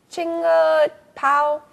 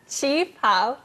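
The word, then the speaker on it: qipao: Chinga pao? Chi pao.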